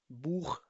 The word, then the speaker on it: Buch: अगर तो CH से पहले लगे हुए बुchstaben में आ होगा, O होगा या फिर U होगा तो इस सिचुएशन में इसको हमेशा खे से प्रोनाउंस किया जाएगा. zum Beispiel Buch.